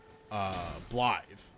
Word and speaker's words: Blaidd: the first time through when he talks about Blythe, who you meet at some point in the